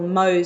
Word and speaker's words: Mohs: in on Monday to have what they call Mohs surgery so it's spelt em o H s is this by dr.